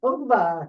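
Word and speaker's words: Ungvár: How do you pronounce it? Ungvar.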